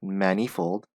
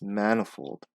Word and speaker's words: manifold: So, it's not manifold, it's manifold. So, this part is, it's weak, manifold.